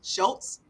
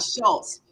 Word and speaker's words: Scholz: And your last name, I was putting a U where the O is, but it is pronounced Scholz. Scholz. There's Scholz. no U or T. Scholz, like Dr. Scholz. See, okay, Scholz, not Schultz.